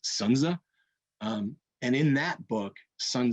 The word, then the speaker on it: Sun Tzu: The name is actually pronounced Sunza.